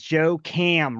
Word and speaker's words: Joe Cam: And his name is Joe Cam, rhymes with lamb, and he's gonna answer our questions that we may have.